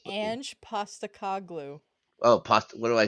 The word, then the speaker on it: Ange Postecoglou: It's Ange Postacoglu.